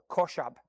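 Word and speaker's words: חשב: It's a Hebrew word that's pronounced, as far as I know, koshab.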